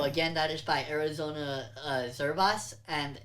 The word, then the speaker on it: Zervas: I believe that's how it's pronounced. It's Zervas. But this is the slowed and reverbed version of it.